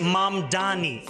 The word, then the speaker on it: Mamdani: The name is Mom Dani. M A M D A N I. You should learn how to say it.